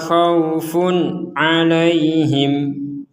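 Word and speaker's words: خوف عليهم: Sama-sama dibaca samarabia hudaya fala khaufun alaihim. Di sini ada tanwin bertemu ain maka kita bacanya harus jelas. Khaufun alaihim. Fun a. Fun a. Jadi sama jangan fun. Jadi langsung jelas.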